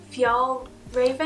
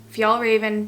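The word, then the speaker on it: Fjällräven: excited about it is this how do you pronounce it if y'all Raven okay so if y'all Raven backpack as a diaper bag this is probably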